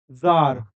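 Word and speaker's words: czar: हो जाएगा दोस्तों काव जार इसको द इसको दोस्तों सी जो है वो क्या है साइलेंट है तो इसको हम जार बोलते है ये एक रशियन वर्ड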